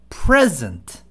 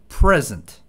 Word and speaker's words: present: 뜻도 다르고 발음도 다릅니다 크게는 우리가 선물할 때 present 하죠 present gift present 할 때는 쪽이 강 쪽이 강조로 합니다 present 또는 현재라는 뜻도 있죠 present 그다음에 present 뒤쪽에 강조를 합니다 present 발표하다 이런 뜻이죠